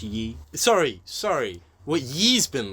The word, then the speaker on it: Ye: it's actually pronounced Yi.